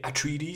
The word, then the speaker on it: Atréides: honneur par Paul atréid les Atréides les atriidis si on le prononce à l'anglaise et potentiellement leurs alliés